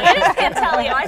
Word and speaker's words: Pantaleo: It is Pantaleo.